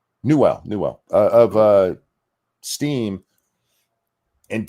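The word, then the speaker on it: Newell: I don't think that Gabe Newsome or is that how you say his name? Newwell.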